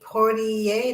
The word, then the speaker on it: Poitier: Sidney Poitier. Did I pronounce it right?